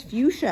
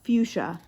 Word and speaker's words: fuchsia: an orange no but here's fuchsia Abby said what that's how it's pronounced Noah fuchsia I had no idea